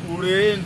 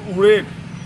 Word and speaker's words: Uren: Uren, as you know, the Tibetans, they mispronounce it as Odiyana. Some called it Urgen, some called it Uren, some mispronounce it as some other Urgan. So folks, this is Uren.